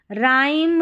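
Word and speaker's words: rhyme: आगे है RH, इसमें क्या है, H साइलेंट रहता है। जैसे देखिए RH, राइम, रिदम, और यह राइनोसॉर्स, यहाँ पर क्या है, H साइलेंट है।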